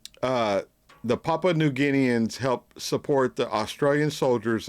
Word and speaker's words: Papua New Guinea: I think I've learned how it's pronounced. It's Papua New Guinea.